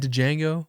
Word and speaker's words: Django: Did you just say Django? No, no, no. A sense of this. It sounded like I said the D Obviously, I know not to pronounce the D.